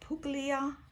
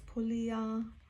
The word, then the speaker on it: Puglia: to get used to POA is not puga it's POA so I've been practicing that